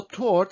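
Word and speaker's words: торт: choose for practicing is tort so tort it looks like or it sounds like english start and you're absolutely right this is cake tort so how do we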